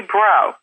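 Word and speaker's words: Breaux: Kim Lutz Eisenhower from Lutz's Lather in Pennsylvania, and Julie Bro from Colorado of Baby Bro. And that's spelled B-R-E-A-U-X for anybody who's going to be trying to find her wonderful baby pampering products on the Internet.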